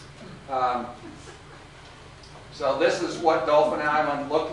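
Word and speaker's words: Dauphin Island: of years ago I was down on on Dolphin Island Dolphin Island but they pronounce it Dolphin Island down there but anyway it's in Alabama and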